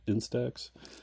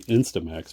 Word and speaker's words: Instax: Is that how you pronounce say it? Instax. I want to say Instamax, but it's not.